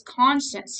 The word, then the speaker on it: conscious: She's not conscience. I say this a lot, like conscience. She doesn't have a moral conscience. Conscience, it's spelled differently. But she is conscious, like she has the ability to be alert and awake.